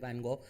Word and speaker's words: Van Gogh: foreign it's pronounced differently at different places we'll go with vincent van gaal let's start and talk